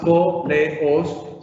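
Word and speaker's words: πόλεως: que he copiado acá, no tiene tres sílabas, po, le, os, sino que realmente tiene dos sílabas, po y lo otro, leos, po, leos, como si se tratase de un diptongo.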